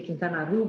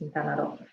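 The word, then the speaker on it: Quintana Roo: o r o o so I always used to say kintan but in Spanish it's just kado so uh the closest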